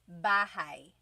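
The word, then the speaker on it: bahay: You might notice that the spelling is a y at the end. So it looks like bahi, but it's pronounced bahi. That a y combination is bahi.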